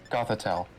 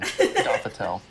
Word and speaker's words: Gothitelle: And for me is I think it's a Gothalady. Gothaleedle. Gothitelle. That's what it is. That's the one. I've never had to pronounce that one. Gothitelle.